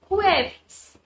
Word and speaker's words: jueves: now here a little change i.e. Ju and I told you we have special pronunciation for such words so it will be (KHUEVES).